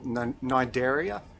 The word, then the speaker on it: Cnidaria: They're all Cnidaria, it's spelt with a C.